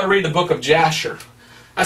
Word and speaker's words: Jasher: read the book of Jasher I said what's the book of Jasher or others pronounce it hasher and I said okay